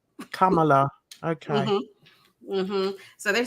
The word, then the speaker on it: Kamala: you say her name it's Kamala Kam it's like yeah Kama with a la Kamala Kamala okay so they're say